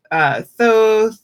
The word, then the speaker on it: Thoth: She says Thoth. She pronounces the TH at the end of Malkuth.